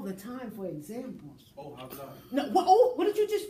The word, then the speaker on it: hablar: You pronounced that H. You went, hablar. Yeah, you did. I heard it. Juanita, you heard it too, right? You heard that H.